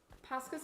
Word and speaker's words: Posca: there um I have posca's of my own they're amazing wait so it's spelled with an O but you say it like it's an a foreign biting my nails